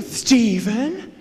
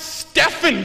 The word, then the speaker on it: Stephen: collect well thank you Stephen Heavens to Betsy I almost forgot actually my name is pronounced Stefan can I have extra